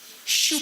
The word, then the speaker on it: choux: The first word, shoe pastry. It has the digraph sound sh, what begins with the letters CH, digraph CH. And it has a silent letter, which is X.